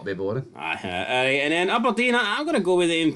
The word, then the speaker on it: Aberdeen: You're emphasis in the A enough. It's Aberdeen.